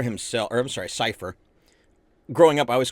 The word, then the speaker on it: Seifer: Um, so dealing with Cafer himself, or I'm sorry, Cipher. Growing up, I always called him Cafer. That's what me and my friends all called him, but I guess apparently Cipher is the correct pronunciation.